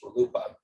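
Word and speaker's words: RLUIPA: kidding with you before the way we pronounce it the practitioners pronounce it is Rupa judge Posner always had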